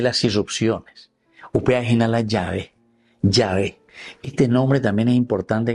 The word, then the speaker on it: Yahvé: el nombre Yah porque algunos por ahí te dicen Jehová que esto aquello y ese es un error este gramatical que existe en la Biblia a propósito hecho por los masoretas.